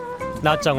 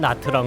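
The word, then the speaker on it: Nha Trang: 교차하는 지점에 위치하고 있다 나짱 은 베트남 전쟁 당시 한국군이 아전 사령부가 자리잡았던 곳으로 우리와의 인연이 재법 기분 것이다 그런 연유에서 인지 우리에겐 나정이 라는 이름보다는 영어식 발음인 나트랑 으로 더 알려져 있기도 하다 인구 30여만 의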